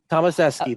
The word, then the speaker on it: Tomaseski: Today I'm here with the amazing Summer Tomaseski. How do you say it? Tomaseski? Tomaseski. It is Polish.